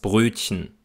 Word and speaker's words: Brötchen: Also man sagt eigentlich nur chen. Man geht direkt vom Ich-Laut zum N über. Das Brötchen, das Weibchen, ein bisschen. Zudem spricht man Wörter mit